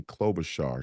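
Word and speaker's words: Klobuchar: clob Butcher they called her she it's it's pronounced Amy clob Bashar she's a u she is the most dangerous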